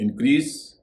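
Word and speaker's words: increase: इंक्रीज, डिक्रीज, इसमें भी एस का उच्चारण स होगा।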